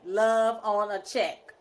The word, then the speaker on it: Luvonachek: But I'm gonna see how he told me love on a check, right, but and the love not is even LUV.